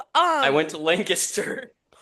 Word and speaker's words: Lancaster: It's It's pronounced Lancaster.